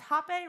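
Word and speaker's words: hapé: It's Hape, right?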